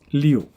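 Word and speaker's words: 六: when you mean uh six you need to pronounce as Leo okay and so let's take a look at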